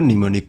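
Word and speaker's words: mnemonic: এখানে মেনি মেনিক উচ্চ মানে উচ্চারণ করতে গেলে মেনি মেনিক হয়। একচুয়ালি এর উচ্চারণ হল নিমোনিক কোড।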